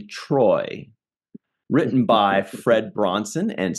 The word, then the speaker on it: Troi: Husk, and today we're doing a review of Star Trek The Next Generation, Season 3, Episode 24 already, Menage let me pronounce this correctly, Troi.